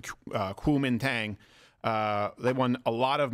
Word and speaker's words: Kuomintang: The opposition party, the KMT, I think it's pronounced the Kuomintang, they won a lot of mayoral races, including Taipei.